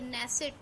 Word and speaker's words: Knesset: नाम भी याद रखिए, नेसेट। ये के से, के साइलेंट है, KNESSET, नेसेट। इजराइल के बेंजामिन नेतन्याहू प्रेसिडेंट हैं।